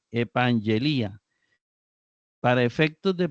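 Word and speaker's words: ἐπαγγελία: es epang elía y notemos e pan ye Li a es decir está acentuado en la la penúltima sílaba Li a recuerde que cuando estas vocales están invertidas no forman ditongo entonces para que sea ditongo tiene que ser Ai no ia eso nada más para para a modo de recordar epela promesa luego recordemos que ante vocal esto se convierte en ng verdad ng ang elía para efectos de pronunciación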